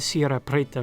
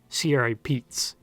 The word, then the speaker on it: Sierra Prieta: to round up cattle the corruption siri pete's actually comes from an unnamed miner gardner-new in arizona coming from maine the miner due to his new england accent could not pronounce sierra pretta so it became sierra pete's he may have also thought it was peaks and not gail found